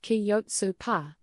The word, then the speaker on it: Kjötsúpa: Chopsa. This traditional lamb soup is more than just a meal. It's a bowl full of history, warmth, and sustenance. It's the ultimate Icelandic comfort food. Jotsa, pronounced kyotu pa, is a hearty, simple soup, perfect for combating